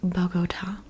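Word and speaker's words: Bogotá: you might ask it's bota I'm going to say it probably in the Spanish way just because Bata it doesn't sound right in English Bata bot the capital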